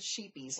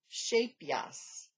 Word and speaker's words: Shapeyes: And they sell, now I will try to pronounce this one right because I called it sheepies last week. It is shapeyes, shapeyes, shapeyes.